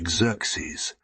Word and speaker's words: Xerxes: had a son named Xerxes pronounced as if it began with a z when I was a